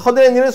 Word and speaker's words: 허드렛일: 자, 얘 발음을 해보면 된 소리 니은 하나, 니은 두 개 중에 어떤 경우에 해당이 되나요? 그렇죠. 니은 그렇죠. 허드렛일 이렇게 되는 거죠.